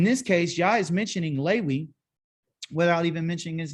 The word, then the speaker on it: Levi: The third son's name is Levi, or Lewi. The proper pronunciation is Lewi.